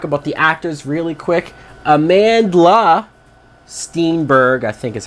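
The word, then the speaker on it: Amandla Stenberg: Amanda Steenberg, I think is how you say her name.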